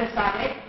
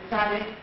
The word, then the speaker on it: Esade: You pronounce it Esade, so when you hear that, sometimes people are confused. Esade.